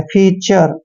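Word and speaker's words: feature: और TURE को चर पढ़ना है, फीचर।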